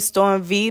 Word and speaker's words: Storm V: Y'all can follow me on Instagram at youngcashout_YUNGKASHOUT_ You remember my name, Storm V, the V is silent.